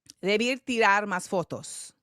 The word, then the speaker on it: Debí tirar más fotos: Bad Bunny is latest album, tell me if I'm pronouncing this right. Debí tirar más fotos.